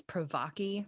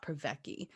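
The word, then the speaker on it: Privacky: pronouncing it was incorrect it is provochi not provecky so thank you i'm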